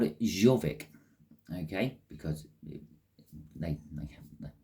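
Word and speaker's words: Jorvik: Now, the Vikings used to pronounce their Y's like a J.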